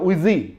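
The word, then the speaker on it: 危机: Chinese में crisis word को अगर आप गूगल करें तो उसका एग्जैक्टली प्रोनाउंसिएशन होता है उइजी।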